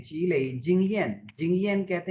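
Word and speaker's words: 积累: है, fourth tone में जो लई का मतलब होता है ना टायर्ड, करेक्टर वही है, लेकिन ये जी लई, यहाँ पे लई की प्रोनाउंसिएशन थर्ड टोन में है।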